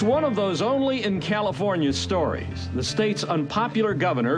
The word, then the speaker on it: California: It is pronounced California.